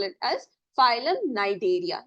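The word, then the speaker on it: Cnidaria: call it as philm nideria the C is silent then philm Tora again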